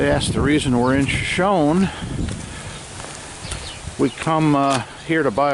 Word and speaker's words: Shoshone: Hey guys, coming to you from the famous Crowbar Cafe and Saloon in Shoshone or Shoshone, California. I think the locals do pronounce it Shoshone.